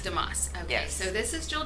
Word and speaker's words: DeMoss: how do you say your last name jewel damascus damascus okay so this is joel dumas she is